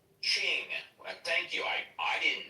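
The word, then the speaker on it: Qing: It's pronounced as Ching. Ching.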